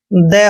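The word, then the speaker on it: they: टी एच ई वाई, यहाँ पर देखिए टी के बाद एच ई आया है, इसलिए हमने टी का उच्चारण यहाँ पर द करना है। तो इसको पढ़ते हैं हम दे, और दे मीन्स क्या होता है?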